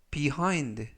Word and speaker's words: behind: 안녕하십니까 여러분 behind behind behind라고 발음하시면 되겠고요 이때 강세는 I 알파벳 아의 강세가 있습니다 그래서 behind라고 발음하시면 좋겠고요 품사는 전치사 뜻은 뒤에라는